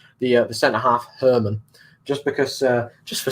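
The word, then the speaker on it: Germán: 100 but i think german is pronounced herman if you know what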